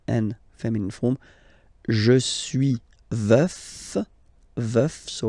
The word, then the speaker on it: veuf: Je suis veuf. Veuf, so remember to pronounce the final F, veuf, and then the feminine form, je suis veuve, veuve, veuve.